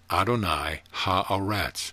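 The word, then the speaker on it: Adonai ha-Aretz: size as the other vibrate the name adonai aretz pronounced adonai ha a rats or use the words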